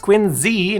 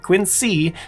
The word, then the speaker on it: Quincy: As for Quinsey, which yes, is pronounced Quinzy, not Quincy, the city is home